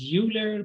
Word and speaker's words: Euler: a r d euler i know we write it you know as euler but it's failed euler swiss mathematician that 1707